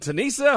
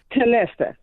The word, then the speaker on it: Tanessa: Is it Tanisa? Hope I'm not mispronouncing your name. Tanessa. Tanessa. Lord. Yeah. Yes. Yeah, I do that all the time. Yeah, I was close.